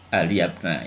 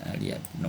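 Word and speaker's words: عليَّ ابنَ: Nah, karena ini maf'ul maka dibacanya ya aliyabna. Nah, ini dibaca aliyabna ya, bukan aliyabnu atau aliyabni.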